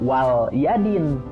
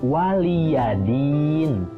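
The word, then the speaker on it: وَلِيَ دِينِ: Nah, lamnya itu adalah lam dengan harokat kasroh, jadi bukan lam sukun. Jangan dibaca wal yadin, tapi waliyadin, ya.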